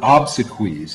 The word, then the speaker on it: obsequies: know is the word obsiquies is a funeral writer ceremony and it's there because it rhymes with cheese a whole big excuse